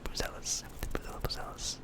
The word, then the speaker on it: Buzelis: I've heard it in a couple different pronunciations. I'll say Buzelis.